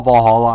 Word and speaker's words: VA-11 Hall-A: I'm just going to call Valhalla. I'm not going to say it like that, even though technically that's what it's called.